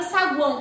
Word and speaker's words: saguão: É diferente se eu fosse falar a palavra saguão, por exemplo. Saguão. Tá vendo que eu pronunciei o som do U?